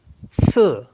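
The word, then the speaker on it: feu: ब्ल मीस होता है ब्लू एफ ई यू फ फ मीस होता है फायर डी ई यू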